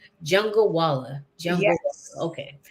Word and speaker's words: Jungalwala: And my last name is Jungalwala. Jungalwala. Jungle. Yes. Okay. So just like it's spelled, pretty much. Okay. Yes. Think Right. jungle and then wala at the end.